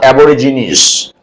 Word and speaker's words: Aborigines: The Aborigines, it is pronounced Aborigines.